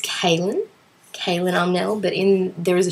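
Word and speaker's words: Kahlan: But in the show they pronounce it Colin. But I'm sure I've read that it's pronounced Kaelin by Terry Goodkind.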